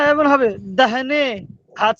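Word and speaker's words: داہنے: ওই তো দাল আলি দাহনে। খা দাহ না, নুন ইয়ে নে দাহনে। এখানে আলিফ উচ্চারণ হবে না।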